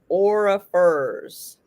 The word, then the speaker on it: Orrefors: typing it in so you can see how it's spelled. There it is. Orrefors. Orifers.